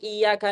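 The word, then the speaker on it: إِيَّاكَ: Contoh misalkan kasusnya iyaka na'budu iyaka harus jelaskan ya tasdid.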